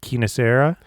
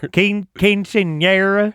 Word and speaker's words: quinceañera: I'm certainly mispronouncing it. Quinceañera.